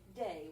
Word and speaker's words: des: So this is lay. This has to be day when you're pronouncing stuff.